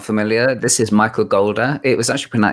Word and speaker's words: Goulder: familiar this is michael golda it was actually it's pronounced gold as in as in shoulder michael golda i think